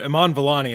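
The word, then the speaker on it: Iman Vellani: do you guys remember or know how to pronounce her name well Iman Iman villani is the actress you're referring to yeah yeah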